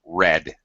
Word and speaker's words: read: a matter of fact past tense read you got to be careful about making it obvious that it's a short e sound red red it sounds like red that's that's right red Reds yeah these two words here your color and your verb here sound identical red red they homophones right